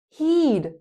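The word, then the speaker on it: he'd: You would you'd just like dude he would heed like the verb peed.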